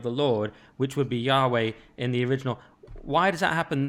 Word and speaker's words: Yahweh: And that's also where Jehovah comes from, because they didn't understand that it was meant to be pronounced as a W. They thought the JV thing meant they thought Jehovah's a good version, but Yahweh is not like Jehovah.